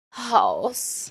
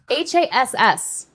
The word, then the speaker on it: Hass: Haas. No, it's not. Haas? That's how I've always pronounced it anyways.